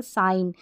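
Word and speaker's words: sign: और भी ऐसे एग्जांपल साइन यहां पर ए जी और एन है जी का साउंड नहीं आ रहा न का साउंड प्रोड्यूस हो रहा है तो जी तो यहां पर साइलेंट है सिंक हो गया पिंक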